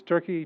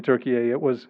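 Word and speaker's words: Türkiye: always known it as turkey just a couple of years ago the Turkish government said they want the world to pronounce it as Turkish people do Turkey um and uh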